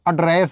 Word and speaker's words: address: Pronunciation देखिए, इसको एड्रेस बोलना है, एड्रेस, एड्रेस मीन्स क्या होता है? ये प्रोनाउंसिएशन इसका है, एड्रेस, ADDRESS, एड्रेस मीन्स होता है संबोधित करना। इसको आप एड्रेस मत बोलना, इसको आप क्या नहीं बोलना है?